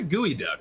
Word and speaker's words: geoduck: Because I'd love to go geoduck or gooey duck digging or clam digging in You know, one of these fishing Nick- games. Yeah. Let's just call it a geoduck. It is a gooey duck.